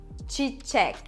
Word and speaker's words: çiçek: Çiçek, çiçek. It means flower. And çek is the second syllable. So çek has the stress. We emphasize on çek.